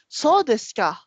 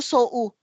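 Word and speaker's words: そうですか: Pag yung makita natin itong mga ganito, ma'am, pag OU, ang tawag dyan, ma'am, long vowels yung mga yan, pagka mga ganyan. Pag binibigkas yan, kung ano yung katabi ni kanya, ito, so des ka. So des ka, hindi po so u. Mga long vowels po yan.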